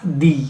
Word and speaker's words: the: और definite article means द, दी। इसको sometime द भी बोलते हैं, दी भी बोलते हैं, अकॉर्डिंग टू द कंसोनेंट्स और वॉवल्स के लिहाज से इसकी प्रोनाउंसिएशन है।